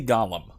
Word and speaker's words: golem: They say Gollum, okay? They say it like this. I'm just going with what they're saying.